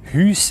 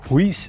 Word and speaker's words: Haus: Zum Beispiel Haus. Wenn einer Häus sieht, dann ist er ein Urner oder ein Walliser. Wenn er Huis sieht, dann kommt er von Ob- oder Nidwalden.